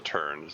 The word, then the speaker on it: tern: Sounds like a kind of bird. There is. I think it's a water bird called a tern, spelled T-E-R-N.